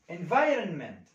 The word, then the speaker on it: environment: environment environment مش هنطق فيها الـ O.